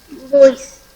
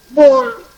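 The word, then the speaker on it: bois: Voice. No. OI is OA. Boa. Boa. Very good. S is not pronounced. So it is boa.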